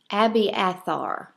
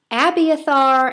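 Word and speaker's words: Abiathar: sons and let me see if i can pronounce his name correctly i'm going to say abby abby athar a b i a t h a r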